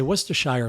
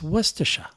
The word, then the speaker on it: Worcestershire: People would say Worcestershire sauce. I go, it's Worcestershire. Like Worcester.